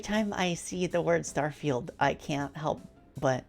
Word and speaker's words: Starfield: Starfield will be their first party game next year. Every time I see the word Starfield, I can't help but like pronounce it the way Garfield's pronounced.